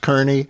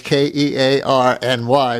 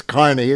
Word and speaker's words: Kearny: on the turnpike, and you think it's pronounced Kearny. Yeah, it's that place, K E A R N Y, but it's Kearny. It's always been Kearny.